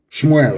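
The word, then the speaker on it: שמואל: Shmuel, of course, correct pronunciation.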